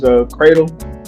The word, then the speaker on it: Credle: Yeah, so guys, again, my name is Credle. Now, I know it's pronounced like an A, but it's spelled Credle.